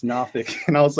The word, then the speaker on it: Norfolk: here uh at Virginia Beach and I first pronounced as like nor folk and someone's like oh don't say that it's nfic and I was like okay I thought it